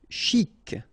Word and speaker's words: chic: Chic. Okay, you pronounce the final C. And then CH together, sh, chic.